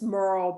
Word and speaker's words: Murell: I know it doesn't sound like the way it's written, but that's yeah, it's Murell.